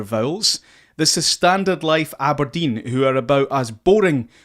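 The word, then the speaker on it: abrdn: me aberdeen aberdeen aberdeen so aberdeen you've to pronounce it aberdeen but the vowels are gone the vowels are gone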